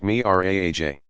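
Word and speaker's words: Mi'raj: From a spot nearby Muhammad began his ascension or Miraj, pronounced Miraj.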